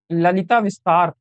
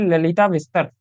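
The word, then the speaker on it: ललितविस्तर: उसके बाद बात आती है हमारी एक और चीज की, ललिता विस्तार। ललिता विस्तार, आप सही तरह प्रोनाउंसिएशन तो यही है, ललिता विस्तार।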